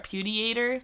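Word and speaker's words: Pudeator: P-U-D-E-A-T-O-R. Pudiator. That's how it's, like, phonetically spelled.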